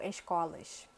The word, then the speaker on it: escolas: A gente tem uma pronúncia bem específica para a letra S. Então, por exemplo, eu falo festa. Ou escolas.